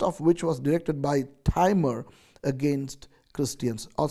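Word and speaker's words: Timur: which was directed by timer against Christians or some people would pronounce timer as T moon okay according to tradition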